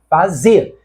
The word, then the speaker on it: fazer: Com a eliminação do R, fazer passa a ser uma palavra de duas sílabas, cuja sílaba tônica é a última, fazer.